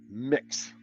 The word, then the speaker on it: Mx: Apparently you pronounce that mix.